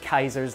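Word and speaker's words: Caesar: Republic and the brutal Kaiser's Legion. Yes, they do pronounce it Kaiser in the game.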